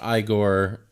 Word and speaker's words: Igor: pronounced Igor.